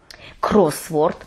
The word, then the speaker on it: кросворд: Кросворд – наголос на першому складі, хрестиківка або головокрутка.